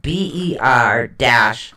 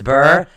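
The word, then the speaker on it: Berkanan: Now, Burkina is Berkana, but it is pronounced BER-KAH-NAN. It's Burkanan.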